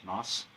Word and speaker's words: Knaus: How do you pronounce his name? Knaus.